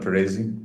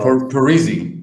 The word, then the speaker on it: Parisi: I think even Paresi, you know Fabiano Paresi, the left back, No.